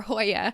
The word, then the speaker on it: joya: pronouncing it correctly since the j is pronounced like h the two words together